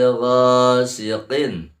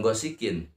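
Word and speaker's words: غاسق: Wa min syarri ghasiqin, qin, bukan gosikin. Kalau gosikin berarti kaf. Ini adalah qaf.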